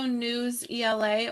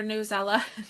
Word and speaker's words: Newsella: So we have ReadWorks, we have Reading Vine, Common Lit, and then also News ELA or Newsella, depending on how you say it.